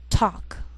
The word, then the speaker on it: talk: Sometimes L can be silent, so you have to be careful.